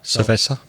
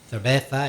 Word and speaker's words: cerveza: And as we know, in Latin America, Z is usually pronounced S, whereas in Spain, some people pronounce it Th. Cerveza. Cerveza, etc.